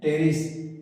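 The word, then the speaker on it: Pteris: में वर्ड आया टेरिस टेरिस लिखते है प से पर टेरिस पढ़ते है टेरिस प साइलेंट है टेरिस मीन फ पी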